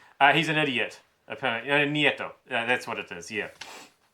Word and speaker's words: Nieto: Saying that President, is it Pinata? It's not pronounced Pinata. I like to think of him as being a Pinata. That's probably where I went wrong. He's an idiot. Nieto.